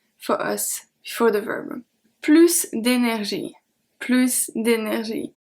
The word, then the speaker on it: plus: Here, plus we are going to pronounce the S. I said that it was a grammar and conjugation text practice, but you know I can never resist to why we pronounce the S at plus. So let's see it one more time. We are going to pronounce the S at plus because it means more, and also because it is not followed by an adjective starting with a consonant.